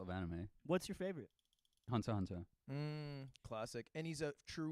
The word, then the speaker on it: Hunter x Hunter: anime what's your favorite Hunter Hunter classic and he's a true wee because he said Hunter Hunter and not Hunter x Hunter because the x is silent and he already knew